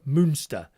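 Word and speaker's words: Münster: I used to live about 100 kilometers north of there in monster pronounced Müster.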